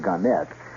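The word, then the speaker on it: Gannett: further one more here ganet or ganet they they prefer to pronounce it ganette Westchester newspapers starting Wednesday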